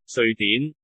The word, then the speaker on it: 瑞典: 자, 광동어로 스웨덴을 읽어볼게요. 瑞典 스웨덴, S 발음이에요.